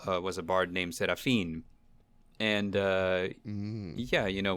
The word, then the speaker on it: Serafin: people always say it's serifin which is no big deal uh i well let's see i always pronounce it in the spanish way with the seraphine yeah okay so how